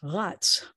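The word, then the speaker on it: רָץ: positioning better like this the word for he ran is rats like you know the thing that you keep in the back of your refrigerator it kind of rots in the back of the refrigerator this is not that this is he ran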